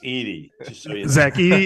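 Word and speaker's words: Edey: year before uh Zach Eddy from Purdue started playing like a madman uh but you know how to pronounce it right it's 80.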